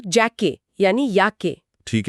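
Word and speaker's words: Jacke: या वर्ष को कहते हैं यार मतलब यार और युवा को युंग मतलब युंग और जैकेट को जैके यानी याके ठीक है तो जे मतलब य साफ हो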